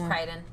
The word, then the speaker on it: Crichton: And he's also apparently a big sci-fi thing, notable for It like might be Crichton. Crichton. It's Crichton. I was like, I don't know how to Yeah, pronounce it.